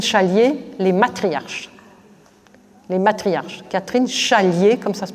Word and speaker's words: Catherine Chalier: Catherine Chalier, comme ça se prononce.